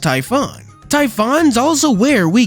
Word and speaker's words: Typhon: o That's because hamo uses the OG spelling and pronunciation of the name from Greek myth which is pronounced Typhon Typhon is also where